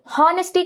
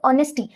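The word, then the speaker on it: honesty: அதே மாதிரி ஹானஸ்டி கிடையாது, அது ஆனஸ்டி.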